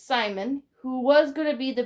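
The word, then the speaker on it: Psimon: that means is his Simon Ben with the P because the P is silent it's Simon who was gonna be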